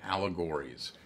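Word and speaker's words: Owlegories: Well, I'm working, one of the projects I'm working on is a project called Allegories, but it's spelled O-W-L.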